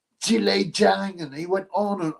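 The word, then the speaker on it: Zhilei Zhang: It's not pronounced Jolly Jong, it's Jile Jang.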